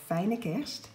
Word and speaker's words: Fijne Kerst: It says Merry Christmas in Dutch, and it is pronounced, for those of you who want to know that, Fijne Kerst.